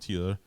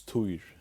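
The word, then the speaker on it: Týr: can get Harry from Tuya. I'm saying it wrong. Tuya. In Faroese, it's Tuir. Yeah. Tuya. Tyr is how you spell that.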